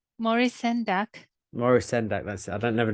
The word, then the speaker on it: Maurice Sendak: Maurice Sendak. That's it. I don't never know if I can pronounce it right.